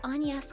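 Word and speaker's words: Agnès: My name is Anas. Don't pronounce the G.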